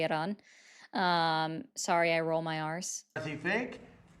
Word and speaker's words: Iran: He's still saying it wrong with the I, the emphasis on the I. But because it's Iran, just saying that, right? But it's cool. Everyone wants to get mad at me for saying it correctly and rolling my R's.